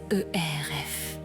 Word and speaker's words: cerf: Écoutez le silence des sous-boissés Eur F non masculin. Attention à la prononciation. Le F se fait entendre mais le prestige est total.